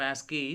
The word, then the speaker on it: ASCII: The full form of ASCII is American Standard Code for Information Interchange. It is ASCII, and we pronounce as ASCII.